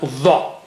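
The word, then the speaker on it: ظ: Let's take a third letter, which is letter va. Va. Now this one is very thick and high.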